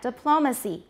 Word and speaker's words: diplomacy: noun but the sh the stress has shifted to which syllable the second diplomat diplomacy photograph photography and the vowels change as well photograph photography this the unstressed syllables in both cases become schwas but they're different syllables monotone now in the